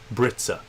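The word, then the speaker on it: Brizza: you'd buy called Brisa britsa like called it spelled like pizza but instead of a p it's a br um at least I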